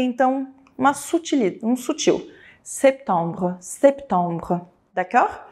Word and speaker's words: septembre: Atenção “septempre” tem um pêzinho cara, esse P do septembre Ele é muito sutil, não pode ser dito “sêpi” “tâmbre”, tem que ser um septembre septembre, ele é um Ele